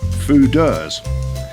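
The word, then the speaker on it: foeders: called food and that's spelt f-o-e-d-e-r-s but pronounced food look at that absolutely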